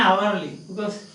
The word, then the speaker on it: hourly: a yellow, yeah, an hourly, because H is silent, unhistorical, but a history.